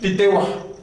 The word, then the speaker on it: Titehua: Bueno, a veces me salen mis malas mundos de más igual, pero el correcto es como dicen que tiene que llevar el saltillo. Pronúncialo con saltillo. Titehua.